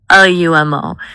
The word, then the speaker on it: Lumo: Lumo. It sounds like light or lumen. It's two syllables.